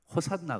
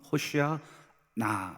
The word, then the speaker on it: 호산나: 원문을 적어 놨냐 여러분 호시아 나 요걸 좀 빨리 발음해 보면 뭐 어떤 발음이 되나요 호산나 됩니다 호산나 호시나 원래 히브리어 음문 호시아 나 이렇게 떨어져서 발음하는데 이게 바로 이제 구원하소서 이런